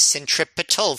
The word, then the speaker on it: centripetal: are talking about pronunciation it is centripetal force with a t oh i did not